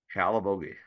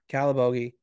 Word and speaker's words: Calabogie: as well as uh how how do you say that last one C Calabogie Calabogie Calabogie if you ever want to do the Boogie you go to Calabogie uh so for you